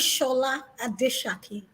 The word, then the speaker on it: Shola Adeshaki: Yes, my name is Shola Adeshaki. It has a Yes, H thank in you. pronunciation, but not in spelling. So it's Shola Yes, because Adeshaki.